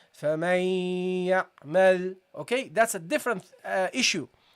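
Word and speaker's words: فمن يعمل: Okay, you don't فَمَن يَعْمَل, you don't pronounce the part of the noon that's produced from the mouth area, but the part which is produced in the nasal area, because the noon has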